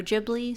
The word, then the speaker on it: Ghibli: both are accurate of Studio gibl yep studio gibl studio jibli same thing different pronunciation and here we